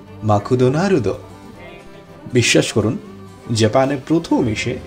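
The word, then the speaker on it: マクドナルド: জাপানিরা ম্যাকডোনাল্ডসকে বলে মাকুদোনারুদো।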